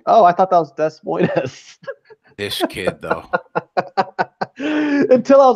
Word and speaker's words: Des Moines: got nothing you know I actually thought it really was Des Moines us until I was like ten years old cuz I never heard it pronounced and then my sister was like oh yeah we're going to Des Moines I'm like what's the